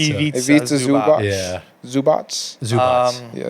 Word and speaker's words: Ivica: Did you call him Ivanka? I don't know how to say his name. It's Ivica? Ivica. Ivica Zubac.